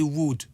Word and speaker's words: would: comprendre un peu euh on lis pas le elle est on dit wood ça s'écrit world on dit wood on dit pas le l i would like et